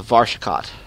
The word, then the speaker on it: Varshakot: Yeah, let's do these missions here, and then we'll go on with the taking Varshakot, right? Did I say it right? Yeah, Varshakot.